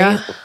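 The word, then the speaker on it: Ary: in parentheses, pronounced like Ari. They literally put pronounced Ari, like Ariana Grande, period.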